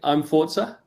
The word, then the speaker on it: imFORZA: I think imFORZA.